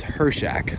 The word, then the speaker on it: Hirchak: it's very frustrating please use cruise control or just drive better so here we are I've been pronouncing it wrong the whole time it's her Shack so Thomas hershek company